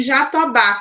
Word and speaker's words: Jatobá: Luísa, Luísa, em Jatobá, qual é a sílaba que é pronunciada com mais força, Luísa? Ba. O Bá, muito bem.